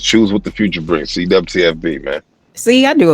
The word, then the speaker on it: CWTFB: So you can find me CWTFB Radio. I know it's spelled with a W. We say dub.